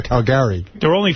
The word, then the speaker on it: Caligari: No, I'm saying he said it wrong. Whatever answer he said, it's the cabinet of Dr. Caligari.